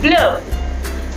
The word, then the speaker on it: bleue: So here we notice that pronunciation is the same, but the spelling of bleu in masculine and bleu in feminine will be different, right?